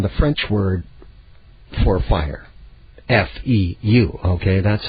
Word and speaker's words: feu: F-E-U, okay? That's how the French pronounce fire.